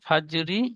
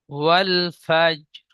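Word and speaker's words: والفجر: আয়াতের শেষে থামতে হলে জাবার জের পেশ দুজের দু পেশের উপর থামতে হলে শেষ অক্ষরটিকে সাকিন করে পড়তে হয়। তাহলে এখানে ফা জিম র জাবার ফাজ। ফাজ রি আর হবে না, ফাজ।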